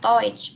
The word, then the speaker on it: Deutsch: Ich lerne Deutsch, bacanya Deutsch ya.